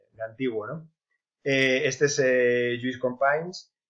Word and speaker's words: Lluís Companys: Este es Lluís Companys, no sé catalán, pero creo que se pronuncia así, Lluís Companys, y entonces declara la